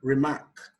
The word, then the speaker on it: remark: Remark, the stress is placed on the 2nd syllable.